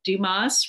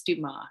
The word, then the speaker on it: Dumas: Dumas writes about her, I don't know if she says Dumas or Dumas. I bet it's Dumas because it's French. And usually in French, you don't pronounce the S at the end because her husband's French.